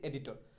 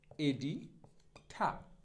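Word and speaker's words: editor: Next, তো last তিনটা শব্দ হচ্ছে একটা সম্পাদক, সম্পাদক ইংরেজি কি এডিটর, আমরা বলি হচ্ছে এডিটর। সঠিক উচ্চারণটা এডিটর হবে না, সঠিক উচ্চারণটা হবে এরকম, এডিঠা।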